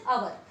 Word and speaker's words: hour: But H doesn't give here sound. It is silent.